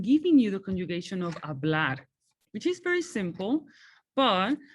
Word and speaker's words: hablar: the answer okay now remember that in spanish the age is silent so you are not